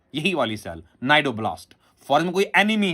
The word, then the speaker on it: cnidoblast: Similarly मेरे बेटे, the cell of Cnidaria, the cell of Coelenterata मेरा बेटा इज नोन एज नाइडोब्लास्ट। मैं स्पेलिंग बोलूंगा आपको बेटा, CNIDOBLAST, नाइडोब्लास्ट।